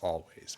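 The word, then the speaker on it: Alvvays: I think they're pronounced Always, but it's with 2 V's.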